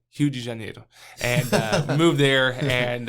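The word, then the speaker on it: Rio de Janeiro: state of Salo to Re Janeiro and uh uh let's let's pronounce correctly Hu Jane and uh moved there and uh and pastored that church pastored that church for a year.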